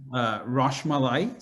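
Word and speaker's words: rasmalai: So one is called Rasmali. So it's spelled Roshmali.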